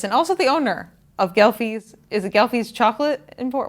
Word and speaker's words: Ghelfi's: Falmouth Road Race and also the owner of Ghelfi's. Is it Ghelfi's Chocolate Import? What's the total? Ghelfi's Candies of Cape Cod. Ghelfi's Candies of Cape Cod. Yes. Or as everyone shorthand just calls around here, Ghelfi's. Ghelfi's.